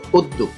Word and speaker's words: উদ্যোগ: উদ্যোগ, এটা অনেক উচ্চারণ ভুল করে থাকে, উচ্চারণ করে উদ্যোগ, আসলে এটা জফলাটা উচ্চারণ হবে না, এটা উচ্চারণ হবে উদ্যোগ।